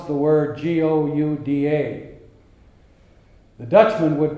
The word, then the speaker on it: Gouda: Something similar to that is the difference in pronunciation of the word Gouda. The Dutchman pronounces it Gouda from deep in his throat. That's hard for a non-Dutchman to pronounce.